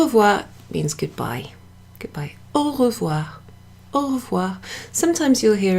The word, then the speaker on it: au revoir: Oh wah Oh wah Oh wah Oh wah all of what of what so I guess